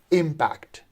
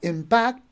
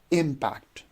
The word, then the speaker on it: impact: but actually here uh the second syllable is not stressed the first syllable is stressed so we pronounce it as impact right not impact but impact we have another word